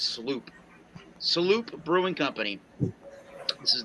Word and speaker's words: Sloop: This is from, I think it's pronounced, I used to say Slope, but I think it's Sloop.